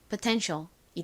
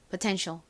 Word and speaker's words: potential: 실제 미국식 원어 발음으로는이 단어에서 어우를 어에 가깝게 읽습니다. 그래서 포가 아닌 퍼에 가깝게 발음이 되고요. T는 티흐 소리 나죠. 이는에 소리 나고요.는 니은 소리 나요. 그래서 연결하면 potential이 됩니다.